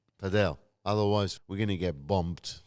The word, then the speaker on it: padel: What do you think about paddle which we need to make sure we pronounce it right? Padell, otherwise we're gonna get bumped from the Padel community.